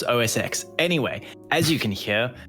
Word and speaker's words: OS X: It's OS 10 and the iPhone 10R. They don't say the X. Pretty sure it's OS X.